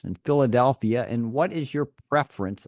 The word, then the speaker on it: Philadelphia: travel to Phoenix or Philadelphia notice the uh the pH here when we combine the p and the H together it's pronounced like an f f f f right Phoenix or Philadelphia so ph sound those